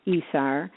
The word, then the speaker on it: ESR: so this one is called esr which is pronounced esar there even became a